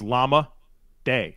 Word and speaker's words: Zacchaeus: how to say it it's llama day llama llama day llama day